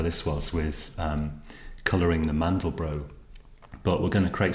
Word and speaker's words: Mandelbrot: If you search for the Mandelbrot, or the Mandelbrot I should say, I think his name is pronounced Mandelbrot, the guy who discovered this, you'll get a whole variety of images.